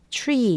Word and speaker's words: tree: tree 이런 것도 마찬가지. try 전부 T지만 추라고 발음이 되는 것은 뒤 R이 오고 그 다음에 이렇게 모음이 오기 때문입니다.